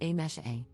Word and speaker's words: Amise: For context, my name is written as Amise, but is pronounced as A-mesh-A.